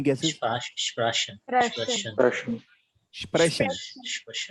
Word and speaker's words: sprechen: How do I pronounce this one? Any guesses? Sprechen. Russian. Russian. Sprechen. Sprechen. Correct. See, Sprechen. Sprechen.